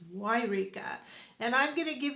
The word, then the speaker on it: Yreka: Yes, spelled with a Y. That's right. It's not Eureka, it's Yreka.